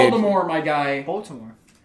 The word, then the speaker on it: Baltimore: the Ravens from Baltimore say it right Baltimore kiss my ass that's where they're from yeah anyway replace the T with the D dude I have a